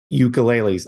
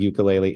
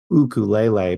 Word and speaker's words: ukulele: Chloe walked in there to start looking at ukuleles I learned that we butcher the word ukulele it's pronounced ukulele but nobody wants to hear me say that